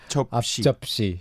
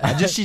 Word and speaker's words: 앞접시: I'm realizing right now that it can be tricky to pronounce 앞접시. 앞접시. 앞접시 주세요. 앞접시? So to break it down. 아저씨 주세요? No, you don't want any 아저씨 for your meal.